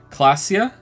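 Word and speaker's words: Klaasje: I miss for the record how do you pronounce your name class G class J clasia classia am I saying it right now classia classia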